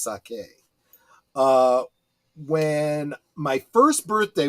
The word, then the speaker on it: sake: me a a sapora and Saki no I'm sorry I think that's pronounced sake uh when my first